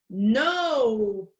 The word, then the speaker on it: nope: Nope. Apesar de nope ter um E final, o E final não vai ser pronunciado. E aí eu vou escutar como se parasse no P.